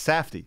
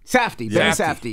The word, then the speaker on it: Safdie: wrong so I'll say is it Benny safd that's pretty close what is it it's safety safty yes yeah film director screenwriter